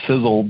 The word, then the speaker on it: Sisel: right in our name the sizzle that uh that you hear is spelled maybe a little bit differently than you may know if you're new to the company or been a if you're a guest tonight but sizzle is spelled s-i-s-e-l it's an acronym and